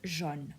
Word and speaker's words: jaune: Don't confuse it with the color jaune, okay? There's a difference between jaune, which means yellow, and jeune which means young. Jaune, jeune.